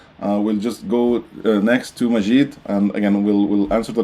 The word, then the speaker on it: Majid: My name is Majid like magic.